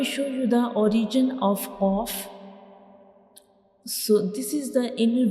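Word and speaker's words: قاف: And when we pronounce cough, the very back part of our tongue will touch the soft palate, like cough, cough.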